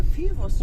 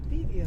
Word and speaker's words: Fivos: It was a Fivos restaurant, and you said Pivios restaurant.